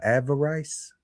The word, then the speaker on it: avarice: How do you pronounce this guy? Avarice.